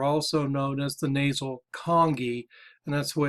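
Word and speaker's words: conchae: turbinate bones are also known as the nasal congee and that's why it's pronounced like king kong king kong ii think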